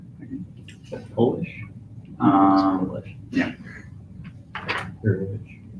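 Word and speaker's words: Hurewicz: That's how it's pronounced. Is that Polish? Polish. Yeah. Gurevich. It's not Horowitz, it's Gurevich.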